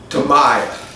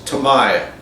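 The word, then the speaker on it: Tamiya: What I was getting at uh is that how I pronounce Tamaya. He proceeded to tell me that in Japan, the MI in there, the I in Japan is pronounced like a long e.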